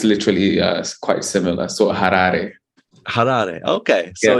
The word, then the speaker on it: Harare: Like it's got a lot of Rs, but uh if you imagine the way you pronounce words in Japanese, it'sually it's it's literally quite similar. So, harare.